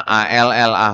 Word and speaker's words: Allah: kata apa Allah cuman kalau di sini tulisannya a l l ah h ya enggak pakai tasdid jadi kita bacanya Allah gitu di sini ya di